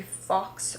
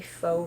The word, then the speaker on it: faux: beautiful boho wrap dress it's a fox wrap i believe that would be a faux wrap not a fox wrap sometimes i like